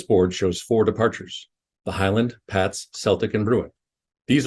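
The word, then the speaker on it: HYLND: five letters for example the spelling of h-y-l-n-d departure is pronounced Highland the stars on the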